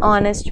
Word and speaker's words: honest: begins with H but when we speak that word the sound of H is silent and are an honest man an honorable man